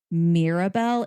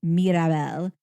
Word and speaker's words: Mirabel: It is not Mirabelle, it's Mirabelle.